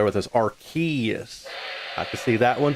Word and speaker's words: Arceus: The promo material was was saying Archus. So that's what you wrote with. Well, that makes sense because at least somebody was actually literally saying it as that. And that makes way more sense than saying ars in any way.